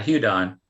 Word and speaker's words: Hudon: But we're going to move on to Michael Houdon. Yes, ma'am. Is that how you pronounce it? Yeah, Houdon.